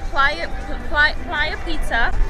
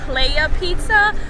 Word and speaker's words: Playa: go ahead it's called Playa Pizza like in English it's pronounced Playa pizza but it's actually like in Spanish Playa means Beach so